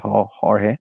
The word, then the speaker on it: Jorge: hollyood from California so in Italians they don't pronounce AG in general the maximum my name is horge but they usually say Hollywood it's not Hollywood